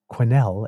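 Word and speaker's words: Quesnel: kit kit RR uh quenel is a hard Q with a W attach so quenel instead as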